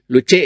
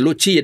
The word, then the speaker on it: luce: cantik kecil ini ya luce ya bukan Luci bukan Lus ya bukan luce bacanya Ya yaitu apa ee